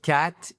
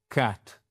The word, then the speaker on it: cat: Mais c'est pas et c'est là justement il ne faut pas se tromper, c'est pas the cat is black, c'est pas un a, c'est un a black cat.